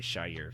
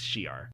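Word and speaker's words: Shi'ar: No, I was going to say Shire because that's how I always Yeah. used to pronounce it, but it's Shiar.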